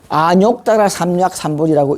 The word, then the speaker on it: 아뇩다라삼먁삼보리: 하는 걸 말씀을 드립니다 그래서 어떻게 보면 아무나 삼막 3부제라고 3막 3번이 또 이건 또 볼이라고 또 읽어요 끝까지 고집 사는 사람이 또 있어 근데 아뇩다라삼먁삼보리라고 읽는 것이 보편적으로 그렇게 읽더라고요 자 다음 넘어갈까요 자